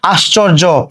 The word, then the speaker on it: আশ্চর্য: এবার দেখো কি আছে, আশ্চর্য, আশ্চর্য শব্দ উচ্চারণ খেয়াল করো, শব্দের শুরুতে আ আছে, আয়ের পরে তালব্য স আছে, তালব্য স সঙ্গে আমরা হসন্ত দিলাম আস, এরপরে দেখো চ লিখেছি। এবার খেয়াল করে দেখো এই তালব্য স চ এর সঙ্গে কি